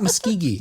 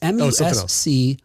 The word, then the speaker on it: Muscogee: I thought it's not Muskegee. The Muskegee Airmen? Can't see it. No, it's not Muskegee. It's Muscogee.